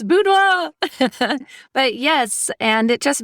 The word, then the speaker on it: boudoir: It's a boudoir. I haven't researched it, but I'm fairly certain. I'm sure someone who speaks French out there is yelling at the radio right now. It's boudoir!